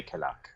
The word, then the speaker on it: Canuck: it cannot for canook people from different areas say canook but I we say cannot right right make sense